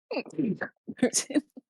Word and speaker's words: poutine: Is it Poutine or Putin? Putin. More like the second one, but not quite. Okay. Like Putin. Like like Putin. Not Putin.